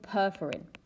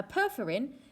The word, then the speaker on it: perforin: produce a chemical called perforin now perferin sounds like the word perforates and that's exactly what